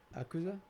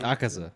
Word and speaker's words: Akaza: Akuza. No. Akaza.